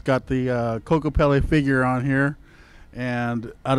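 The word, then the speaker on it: Kokopelli: on my mother's side, they call him Coco Pa. And that's the right pronunciation before the Europeans decided to add the little Coco Pele at the end.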